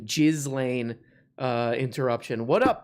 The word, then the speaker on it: Ghislaine: for that g let me say it correctly jizz lane uh interruption what up p what up we